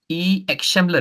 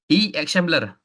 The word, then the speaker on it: akşamlar: X Shambler, if I'm not mistaken. Is it correct, Prof? The pronunciation X Shambler? What? X Shambler.